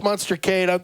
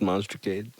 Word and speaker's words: Monstercade: Monster Kate.